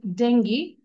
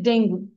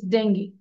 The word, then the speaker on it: dengue: বন্ধ and 3 dengue its pronunciation is dengue but all the time we say dengue it's not dengue it's dengue ঠিক আছে so 3 dengue